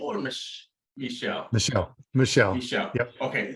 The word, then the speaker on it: Michel: my my Is It Michael or Michelle Michelle yep okay like the French pronunciation right yes nice okay